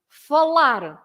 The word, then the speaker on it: falar: So you should stress the last part. For example, falar, comprar, visitar, mostrar, etc.